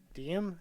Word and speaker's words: Diem: organizes it will now go by the monkier diem is how you say it reflects the project's